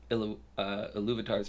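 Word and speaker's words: Ilúvatar: Something does happen, but it's Iluvatar's plan, and I know I said it right. Iluvatar? I don't like that. But that's the way it is. Iluvatar sounded better. Iluvatar sounds like something that illuminates your room.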